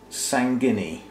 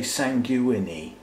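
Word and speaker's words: sanguinea: and this is restrepia sangini you could say sanguini but the fact that g-u-i-n-e-a spells guinea if you put s-a-n on the front i'm gonna pronounce that sangini and it's got a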